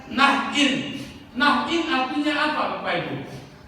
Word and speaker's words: Nain: Kalau Bapak Ibu punya pensil atau ballpoint, Bapak Ibu bisa tulis, bacanya Nahin, tulisannya Nain sama dengan bahasa Indonesia, tapi bacanya Nahin.